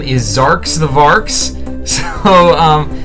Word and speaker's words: Xarx: This is Zarks the Varks. That's spelled Xarx.